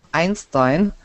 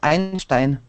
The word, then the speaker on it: Einstein: Einstein and stepen Hawking I had to be careful with Albert Einstein not to read it in the German Way how do you read it in German albertt Einstein yeah um you know when